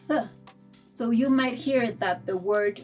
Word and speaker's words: soy: So you'll hear it in soy, which means I am, where the sound resembles that of letter I.